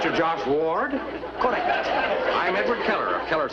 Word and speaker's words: Ward: you were talking to me you see i pronounced my name w-a-r-d w-a-r-d ward yes i am a diction teacher